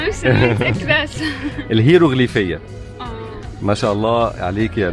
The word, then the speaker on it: الهيروغليفية: الهيروغرافيا. الهيروغرافيا. برافو عليك، انت عارفاها بس مش عارفه تنطق الاسم. مش متأكدة. الهيروغليفية.